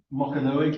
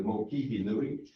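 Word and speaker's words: Mokihinui: Marie has pointed out that actually understanding the Maori language, and we've got the Mokanui, people talk about the Mokanui, it's actually the Mokihi Nui, north of Westport, and the Mikanui River down here.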